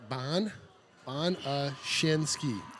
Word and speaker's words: Bonashinsky: So is it Bon Shinsky? Bonashinsky.